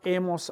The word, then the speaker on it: hemos: So they are as, a, hemos, an. The H is silent.